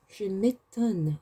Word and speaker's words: je m'étonne: I should clarify that the E has an accent over it, so it's pronounced E. Je m'étonne.